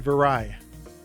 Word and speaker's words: Viray: to just practice her last name, Mary Ann Viray. Got it. Okay. It's spelled B I R A Y.